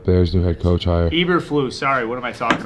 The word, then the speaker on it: Eberflus: That's how I thought it was pronounced. It's not Eberfluss. That's too weak.